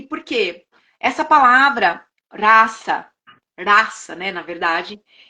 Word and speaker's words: rasa: escrita com alfabeto Latino em sânscrito se pronuncia raça né o s ele